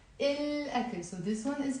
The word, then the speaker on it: الأكل: منلفظ اللام, we pronounce the lam. Why? ليه? لأنه, because, memorize, لأنه, ألف, because ألف حرف شمسي is a moon letter, so we pronounce.